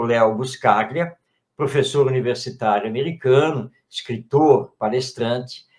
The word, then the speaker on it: Leo Buscaglia: nosso amigo lá, é dos Estados Unidos, do Buscaia, né? Eu pronuncio muito o nome. Ele é italiano, quer dizer, ítalo-americano, Leo Buscaglia.